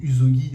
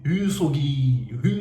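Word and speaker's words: shogi: Moi je disais Uzogi avec un seul S parce que le S un seul S je le prononce Z. Mais il me disait Hogi Hogi Hogi.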